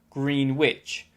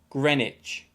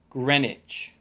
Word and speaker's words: Greenwich: this book number 14 students often make the mistake of pronouncing it like green witch but it should be pronounced greenwich greenwich at greenwich come sunday